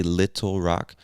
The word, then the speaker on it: Little Rock: little rock little rock you can say little rock but i think many americans will pronounce this as little almost as if the two t's were two d's little rock little rock arkansas now the next state